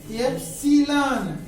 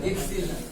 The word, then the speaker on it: एप्सिलॉन: Sigma नहीं है, एप्सिलॉन नहीं, एप्सिलॉन बोलते हैं। जो भी टीचर एप्सिलॉन बोलता है, एप्सिलॉन बोलता होगा, ये एप्सिलॉन। देखो ये उच्चारण EPSILON, बताओ क्या होता है? एप्सिलॉन। ये सही प्रोनाउंसिएशन है।